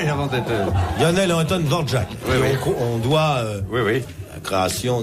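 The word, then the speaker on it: Dvořák: Ça se dit Dvorak. Enfin, si ça vous se voulez prononce l'appeler Dvorak.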